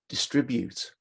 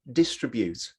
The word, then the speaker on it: distribute: distribute or distribute okay which one is it distribute or distribute well the answer is is it doesn't matter because really that's the difference between british pronunciation american and australian pronunciation so whether you say distribute or distribute to whatever the stress is perfectly fine they are both perfectly acceptable and understood okay so the guidelines